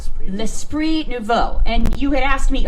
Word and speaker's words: L'Esprit Nouveau: How do you pronounce it again? It's really... Okay, so it's called L'Esprit Nouveau. L'Esprit Nouveau.